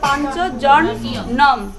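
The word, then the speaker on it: পাঞ্চজন্যম্: পার্থক্য আছে অবশ্যই যেখানে অনুস্বর থাকে সেখানে আমরা ম উচ্চারণটা করব অনুস্বরে ম আসবে সংস্কৃত আর বিসর্গে আসবে উচ্চারণ তাহলে প্রথমে আছে পাঞ্চজনং আছে বাংলায় লেখাটা তাহলে সেটাকে আমরা কি বলব পাঞ্চজনম অনুসারে কি আসবে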